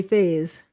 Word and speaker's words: Faz: Faz or Faze? You said it right. Faz, really, like Faz. Fazio.